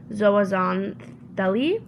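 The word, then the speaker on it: zooxanthellae: It's pronounced zoazant deli plankton.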